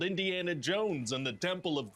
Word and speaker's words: Indiana: Jones script for me indana sure I do well it's pronounced Indiana oh that's right I